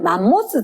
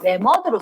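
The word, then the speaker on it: 매머드: 그다음에 안모나이트 바닥 바닥 친생대 혹 만모스 들어봤나? 만모스 말고 요로 써야 돼요. 메머드로 씁니다. 네모드 발음을 하다 보니까 뭐 뭐이 나라 저 나라 표기법이 다르다 보니까 만모스 이렇게 부르긴 했는데 일반적으로 공식 명칭은 메머드 이렇지 메머드 그다음에 화폐석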